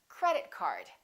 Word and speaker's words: credit card: words representing one object we stress the first word repeat after me credit card also say these two words as one word join them together don't say credit card say credit card let's practice some compound nouns